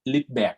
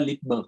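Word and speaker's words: Rydberg: ขออภัยด้วยนะครับบางทีผมอาจจะเรียกชื่อติดสำเนียงภาษาเยอรมันนะครับก็คือ Leadback นะ Leadback จริงๆถ้าภาษาอังกฤษจะเรียกว่า Leadberg ใช่ไหมคุณเรียก Leadberg ไปแล้วกันนะผมอาจจะเรียก Leadback มันเป็นสำเนียงการออกเสียงแบบภาษาเยอรมันนะครับใช่ไหม ER มันจะออกเป็นสระแอนะครับแต่จริงๆคุณจะเรียกกันว่าสระเนาะโอเคต้องขอประทานอภัยด้วย Leadberg ก็ได้นะโอเคไหมครับอย่างคำว่า Balmer นะครับก็จะออกว่า Balmer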